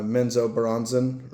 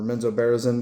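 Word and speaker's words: Menzoberranzan: Um, Dritz goes on a full hearty quest, essentially a suicide mission to uh, Menso Baronzen or Menzo Barisen, depending on how you want to pronounce it, which is, um, one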